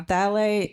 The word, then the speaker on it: phthalate: Now, phthalate is when you're looking on the label, it starts with a P. Yes. The P is silent.